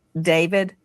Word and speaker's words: d4vd: Some people look at his name and it looks it looks like D4 VD and he pronounces it David.